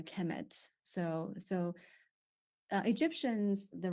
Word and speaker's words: Kemet: uh they will be the noun will be pronounced a Kemet so so uh Egyptians